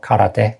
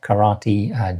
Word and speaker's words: karate: And of course, there are martial arts like aikido, judo, karate, not karate, karate, jiu-jitsu, and unfortunately, tsunami.